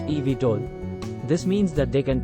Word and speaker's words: eVTOL: vertical takeoff and Landing or evtol pronounced EV toll this means that they